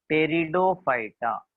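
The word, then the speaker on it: Pteridophyta: तीसरा विभाग है, तीसरा प्रकार है अबीजपत्री वनस्पतियों का, क्रिप्टोग्राम का तीसरा टाइप टेरिडोफाइटा। पी साइलेंट है यहाँ पे, इंग्लिश में अगर इसका नाम देखेंगे, हिंदी में टेरिडोफाइटा ही।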